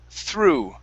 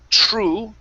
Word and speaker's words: through: you're you're close so we want to pronounce the th sound instead of true with the tr it's a th through now the th here in this word is sounds like the theta okay so it's through through true true okay